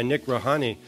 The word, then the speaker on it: Nic Rawhani: content director for Big Five digital joined by Nick Rani Nick did I pronounce that right I you absolutely did you